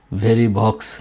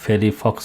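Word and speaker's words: Verivox: সো ওই ফেরি ফক্স অথবা ভেরি বক্স যাই বলেন না কেন জার্মান উচ্চারণে আসলে ফেরি ফক্স হওয়ার কথা কারণ এটা কিন্তু ফাও আপনারা জানেন এফ এর মত উচ্চারণ হয় ভিটা এফ এর মত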